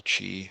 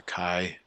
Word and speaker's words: chi: is a Kai squared there not a chi it's a Kai is the pr correct pronunciation with that one to it ask us